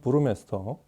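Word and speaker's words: Burmester: 원어 발음대로 하면 브루메스터.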